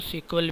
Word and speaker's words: SQL: आमतौर पर इसको दो तरह से प्रोनाउंस किया जाता है, ठीक है, या तो आम लैंग्वेज में हम इसको एसक्यूएल पढ़ते हैं या इसको सीक्वल भी कहा जाता है।